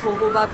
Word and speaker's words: jojoba: Though on the pack it says jojoba, but it's pronounced as jojoba beads and lemongrass.